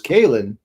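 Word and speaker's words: Caolán: And then her her king consort husband is Kalin. And you're like, "Okay, Kalin, was that like k a y len?" And it's like, no, it's C A O L A N.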